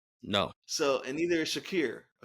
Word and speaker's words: Shakir: So, and neither is Shakir or Shakur, however you pronounce it. Yeah, Shakir.